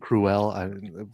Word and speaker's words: Krul: Ben Krul, who I think is how you pronounce his last name. Frank, am I getting that correct? I mean, if not, it should be. Yeah, pronounce it. Cruel.